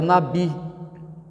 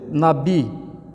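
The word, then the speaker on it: נביא: está na lição mas no hebraico é Nabi alguns pronunciam às vezes Nabi mas é Nabi é a palavra mais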